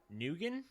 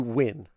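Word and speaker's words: Nguyen: artist and programmer doug neugen maybe under it's probably win it's it's usually pronounced win n-g-u-y-e-n it's usually pronounced i'm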